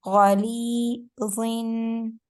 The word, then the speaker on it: غليظ: Yeah, if we say it like ghalizi, Z is the sound of the single zir. It's Zair is giving an E sound, but double Zair is giving an N sound.